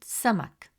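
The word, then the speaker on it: سمك: It is a light sound, pronounced from the front of the mouth. Example, the word samak, which means fish.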